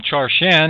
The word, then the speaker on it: Charschan: enlightening our guest today has been dr william char chan and he is the author of cheating mother